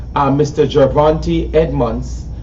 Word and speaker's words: Edmonds: have sitting to my right uh mr giovanti edmonds edmonds um that's the proper pronunciation um he's the founder and ceo of